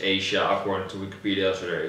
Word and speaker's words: Aja: is startled Asia decision now we say it's pronounced Asia or to Wikipedia so very good well I